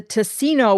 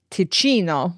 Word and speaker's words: Ticino: city will show, the Ticino will overflow with blood." And I don't know if I'm pronouncing that incorrectly. In Italian, it would be Ticino, but Ticino, t i c i n o, the southernmost area of